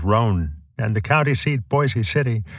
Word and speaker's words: Boise City: and the county seat Boise City should rhyme with voice some residents even wanted